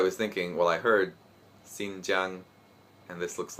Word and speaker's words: Xinjiang: of course i was thinking well i heard xinjiang and this looks like xinjiang and it's not